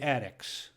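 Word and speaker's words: Addick: supporters are addicts no this is the Attic a DDI CK thought to be a mispronunciation I guess or a heavily accented pronunciation of haddock because back in the old days after the game a local fishmonger would give all the players a bit of haddock or attic so don't worry I'm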